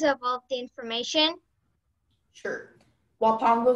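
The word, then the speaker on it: huapango: Wapango is the only pronunciation.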